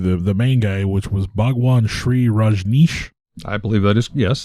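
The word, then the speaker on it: Bhagwan Shree Rajneesh: a secretary to the main guy, which was Bhagwan Sri Rajneesh. I believe that is, yes, that's the correct pronunciation.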